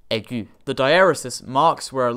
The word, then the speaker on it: aigu: See, French for whatever reason, has a lot of silent letters, and just this on its own would be pronounced egg, not aigu.